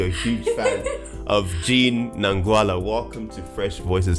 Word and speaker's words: Nangwala: Well, you said it Nangwala. It's actually Nangwala with the accent.